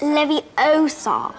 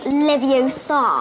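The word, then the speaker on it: Leviosa: nine Hermione corrects Ron you're saying it wrong it's Levy OA not leio this has got to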